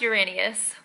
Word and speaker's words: Uranus: It's actually pronounced Uranus.